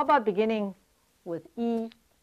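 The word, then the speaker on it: 一: weii in pinging and pronounced like the letter e except in a higher tone e when the two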